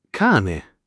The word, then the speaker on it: cane: Cane. Cane. Con la a aperta.